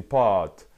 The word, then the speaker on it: pâtes: un râteau et cetera normalement il faut prononcer je mange des pâtes mais la grande majorité